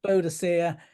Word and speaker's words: Boadicea: So she's mm. definitely Boadicea, and she was in charge of the Iceni tribe.